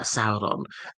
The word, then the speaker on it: Sauron: will find it uh as in sa as in the English word sour uh Sauron.